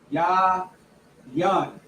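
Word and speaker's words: יין: Ya yan. That's how you say wine in the Hebrew. Yayan. That is yah. Yeah. Young H 31 96 It is pronounced ya yan yan five meat meat.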